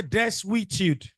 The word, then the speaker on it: desuetude: Oh yeah, that word is pronounced as say des we. I want to hear the consonant we. Say desuetude.